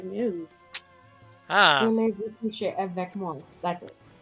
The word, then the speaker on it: voulez-vous: It's voulez-vous.